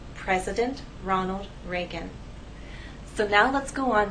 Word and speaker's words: Ronald Reagan: it will help us with pronunciation the correct pronunciation is President Ronald Reagan we've ours here and here if i take